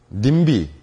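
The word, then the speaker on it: NIMBY: 닝 b 라고 부르죠 n i m by 님비 라고 읽어요 님 비는 뉴스도 많이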